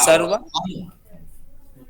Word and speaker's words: सर्वावस्थांग: एक है सर्वावस्थांग, उसको हाँ। गुरुजी कैसे उच्चारण करें, थोड़ा आप सर्वावस्थांग, क ख ग घ का अंग है, वो अंग बोल दो। अच्छा, सर्वा सर्वावस्थांग।